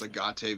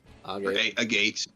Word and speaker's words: Agate: about how I pronounced agate village. A gate. A see. Exactly. Like like I don't know why, dude. It's just for some reason I want to say agate.